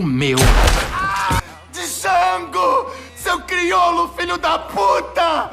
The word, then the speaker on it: Django: Django! Seu crioulo, filho da puta! O D é mudo, caipira.